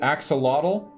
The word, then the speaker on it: axolotl: word or aztec word is it axolotl walter says timberwolf all right we're gonna go with that timberwolf from walter uh she said axolotl uh cool i actually pronounced it right right on okay from the